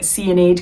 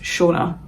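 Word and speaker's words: Seonaid: of other random variations but how you actually pronounce my name is shaa now in English you would spell that s h o n a but my name is a g spelling of the name um so in galac and which is by the way a Scottish language um from the sort of Northwest I think of Scotland my name would be pronounced in GAC as shaah but my parents knew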